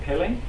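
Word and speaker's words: Pelé: watch the movie it's about the life of Pelle is how you pronounce his name p p it's about the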